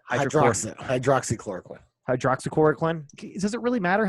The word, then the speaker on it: hydroxychloroquine: I believe it's in hydrochloroquine. Hydroxychloroquine.